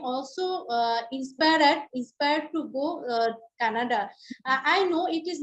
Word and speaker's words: Canada: It's not Kannada. You was I thought you were talking of Kannada in India. That that state. It you are talking of Canada, right?